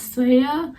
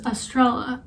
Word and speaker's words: Estrella: pronunciation of my name because in spanish it's supposed to be pronounced as saiya granted i don't speak spanish that well so like you know but how i pronounce my name usually is estrella so people have been